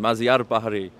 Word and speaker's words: Mazyar Bahari: He's really funny, and he made sure we pronounced his name right. That was one thing he wanted to get in the room. Mazyar Bahari. I won't forget that.